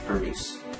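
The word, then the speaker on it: Hermès: 卡地亚 Cartier, Cartier, 爱马仕 Hermes, Hermes.记住那个 H 一定不能发音因为法语里面 H 是不发音的所以不能读成 Hermes LV Louis Vuitton Louis Vuitton Gucci Gucci Gucci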